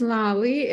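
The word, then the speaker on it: Lali: are in your background my name is Lolly l-a-l-i so it's very easy to pronounce like lollipop um I'm originally from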